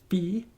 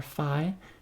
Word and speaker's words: phi: And you can find that phi of n is proportional to this constant phi, or phi, depends on how you want to pronounce that.